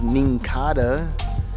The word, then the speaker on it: Nincada: Second reverse hollow is a Nincada. I guess it rhymes with Kinkada.